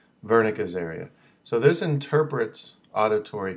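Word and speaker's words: Wernicke: W German um so it's pronounced like with a V Sound vernica area so this interprets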